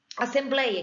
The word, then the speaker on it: assembleia: Então, por exemplo, assim, assembleia, que tinha acento antigamente, eu falo assembleia. Eu tenho o ei na penúltima sílaba, porque separa o blei a, certo?